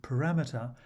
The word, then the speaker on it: parameter: does but in this case of parameter the stress falls on the second syllable a well-known problem is